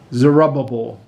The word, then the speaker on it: Zerubbabel: Zerubbabel. That's how my teachers used to pronounce it when we were in Sunday school, and we always used to have fun with that.